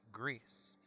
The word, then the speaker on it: Gris: the game is pronounced grease uh g-r-e-a-s-e it's french and spanish for the word gray so uh my little